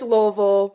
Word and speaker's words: Louisville: I tell people say it like you got mashed potatoes in the back of your mouth.